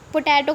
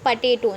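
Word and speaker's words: potato: पोटैटो को भी बता देती हूँ, इस पटेटो, ना कि पोटैटो नहीं, पटेटो, ठीक है।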